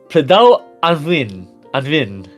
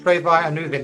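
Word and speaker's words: Preiddeu Annwfn: Pledau Anvin. Almost. No. Okay, how do you say it? Pray thy. And Anuvin. Yeah. All right. And then Nightavad, please grade us. Davidon. Yes. Yeah. The Pray thy Anuvin.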